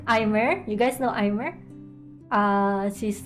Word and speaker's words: Aimer: I like Aimer. You guys know Aimer? She's a Japanese singer. Actually, her name is pronounced Ame.